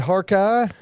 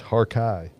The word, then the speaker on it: Harkeye: It is not Harkey. It is Harkeye.